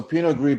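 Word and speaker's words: Pinot Gris: It's so pinogree basically is uh white grapes that have gray skins. It's what what's where gregio and Greek come. So gree is like gray gray.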